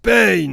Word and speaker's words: Pain: Ça se prononce Pain.